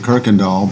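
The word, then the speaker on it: Kuykendahl: You don't see the R, but you hear it, right?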